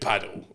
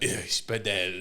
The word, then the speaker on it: padel: It's spelled P A D E L. See, I reckon people calling it paddle, but yeah, the French are like bedel. It is bedel.